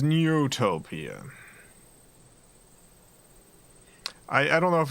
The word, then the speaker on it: Neutopia: is much more dastardly for a second I thought it was neotopia no it's not neotopia it is neutopia I I don't know